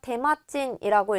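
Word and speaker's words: 手間賃: 이때 붙일 수 있는 게 친이 됩니다. 그래서 테마친이라고 읽을 거고 정답은 1번이 되는 거죠.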